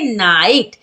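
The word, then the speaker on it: knight: क्या पढ़ेंगे knowledge नाइट नाइट में भी के एन से पहले आया है तो के को नहीं पढ़ेंगे तो क्या पढ़ेंगे नाइट चलिए अब जानते हैं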